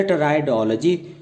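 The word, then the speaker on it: pteridology: Actual में टी से पहले पी साइलेंट रहता है, इसलिए हमने इसको ब्लैक कलर से दिखाया है। ये बोला नहीं जाएगा।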